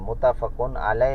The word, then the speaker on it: متفق علیہ: نے روایت کیا ہے۔ یہ لفظ صحیح تلفظ کے ساتھ پڑھنا چاہیے، بہت سارے عزیز طلبہ لفظ ٹھیک نہیں پڑھتے۔ وہ یہ ہے کہ متفقن علیہ لفظ ہے اور اس کا